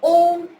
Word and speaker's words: Om: The Om is a universal sound, does not follow any religion, caste or creed. The Om has 3 syllables, A, U and Im.